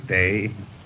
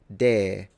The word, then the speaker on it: day: Christmas Day. He fully pronounced the diphthong, day. In the Victorian one, we noticed that they were still pronouncing it dare, which I thought was